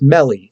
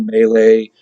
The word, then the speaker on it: Mele: so um you know my last name is melly m-e-l-e right uh four little letters you can't believe how it gets screwed up in the pronunciation right meal melee um uh what else